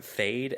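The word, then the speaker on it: Feyd: made me think of the Kanye West song, Fade, F-A-D-E, which is, this character's name is spelled F-E-Y-D.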